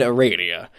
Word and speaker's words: Aradia: I'm really looking forward to this because we got Tav and Aradia. It's pronounced Aradia.